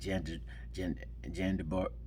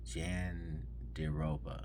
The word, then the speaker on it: Jandiroba: And next up, we had Angela Hill versus Verna Jandabara. No, I'm saying it wrong. Jandiroba. Yeah, that's it.